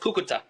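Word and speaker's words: Cúcuta: He's on the border in the city of, is it Susuta, alongside the aid? Is it Susuta? How do you pronounce that, Stephen? Hi, Jotun. It's called Cucuta.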